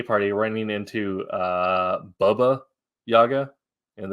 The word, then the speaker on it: Baba Yaga: uh Baba Yaga uh I guess it should be Baba that's the proper pronunciation learn that recently talking with some Eastern European friends uh but saw meme